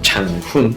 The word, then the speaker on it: Changhun: Aquí en Mexicali me pusieron mi nombre como por esta razón, porque me llamo Changhun, pero su pronunciación se escucha como Changhun, Changhun.